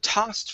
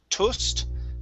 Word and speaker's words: tossed: uh tossed right here so tossed free books instead of toast tossed try that test okay